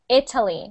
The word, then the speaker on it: Italy: Italy. Now, we actually pronounce it like an I. I know many languages pronounce it like e, but we pronounce it like Italy.